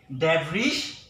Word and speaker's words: debris: Debris. Debris is not correct pronunciation. So the sound of S will be silent.